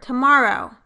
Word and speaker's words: tomorrow: That was the word tomorrow. Stress is on the second syllable.